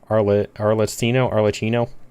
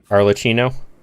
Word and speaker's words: Arlecchino: Like cappuccino, but Arlecchino?